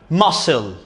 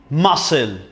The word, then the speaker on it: muscle: we call this muscle we don't pronounce the c we don't say muscle now muscle muscle okay we will complete